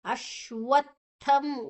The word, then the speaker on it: ಅಶ್ವತ್ಥಂ: ಜೊತೆ ಶು ಅನ್ನ ತಗೊಳ್ಬೇಕು ಅಶ್ವತ್ಥಂ ವ ಅದರ ಅಡಿಯಲ್ಲಿ ಸಂಯುಕ್ತಾಕ್ಷರ ವ ಅಶ್ವ ಮತ್ತೆ ಶು ಮತ್ತೆ ವ ಇದೆ ಅಶ್ವತ್ತಂ ತ ಮತ್ತೆ ತ ಮ ಮಹಾಪ್ರಾಣ ನಂತರ ಅನುಸ್ವರದ ಉಚ್ಚಾರಣೆ ಮ ಅಶ್ವತ್ತಂ ಪ್ರಾಹುರವ್ಯಯಂ ಪ್ರಾಹುಪು ಮತ್ತೆ ರ